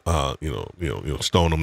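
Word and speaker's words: Stoneham: you know you know stone them not stone ham stolen um you know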